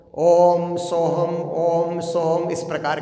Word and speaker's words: ओम: ब्रह्म कहा जाता है अ उ म अर्ध बिंदु पांच अक्षर से ओम शब्द बनता है ना इसलिए ओम का उच्चारण होता है तो ओम ऐसे करके ऊ म अर्ध बिंदु पांचों का उच्चारण किया जाता है लंबी ध्वनि निकाल कर के पांच अक्षर का एक